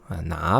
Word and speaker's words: 哪: which is 哪本书哪本书 Notice how the tone on 哪 changes to a second because 本 is third, right?